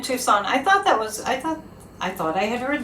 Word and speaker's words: Tucson: Oh, the sea is silent in Tucson.